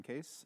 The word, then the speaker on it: Kees: Hi, I'm I'm Case. Uh, it's spelled funny, but it's pronounced case.